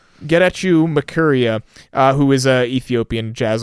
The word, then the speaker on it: Getachew Makuria: to try my best, Getachew Makuria. it's spelled like get at you almost. Get at you Makuria, who is a Ethiopian jazz artist, I believe.